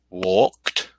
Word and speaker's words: walked: T sound at the end of the word.